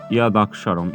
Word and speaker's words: যদক্ষরং: তারপর দেখো যদক্ষরং এর শুদ্ধ সংস্কৃত যে উচ্চারণটি সেটি হবে ইয়াদাক্ষরম।